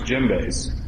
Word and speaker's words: djembe: Djembe. Yeah. That's with the silent D.